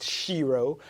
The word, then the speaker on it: Shiro: an enterprise called mighty Shiro productions yes that shiro rhymes with hero has been bringing the